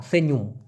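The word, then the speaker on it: senyum: হবে সেনুম এস ই এন ওয়াই ইউ এম উচ্চারণটা হবে সেন সেন ইউম দিতে পারেন ইউম অথবা সেন তারপরে অন্তস্থায় রসুম সেনুম যেভাবে বলেন সেনুম আর যদি হাহা করে হাসা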